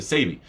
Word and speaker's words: Sebi: i got for dr sabi okay or sebi sebi i've heard people pronounce it either way either way this was